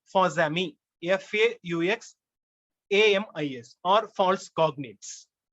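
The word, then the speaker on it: faux amis: concept called false friends in french it's called fosumi f-a-u-x a-m-i-s or false cognates in the sense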